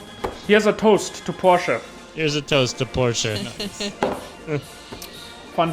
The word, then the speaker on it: Porsche: i hear the name porsche a lot i will say this only once in germany we say porsche good and don't get this wrong again he has a toast to porsche here's a toaster porsche